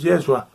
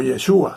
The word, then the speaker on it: Yeshua: Repetimos que es una falsedad, una doctrina falsa decir que el hombre Jesús, Yeshua, o Yeshua, según quien lo pronuncie, fue divinizado después de su muerte y resurrección.